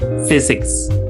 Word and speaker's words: physics: Ya, jadi p-nya itu dianggap hilang. Langsung aja physics.